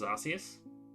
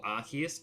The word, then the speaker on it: Arceus: switch obviously got my Legends Arceus or Arceus depending on how you want to pronounce it Pokemon Shield can't go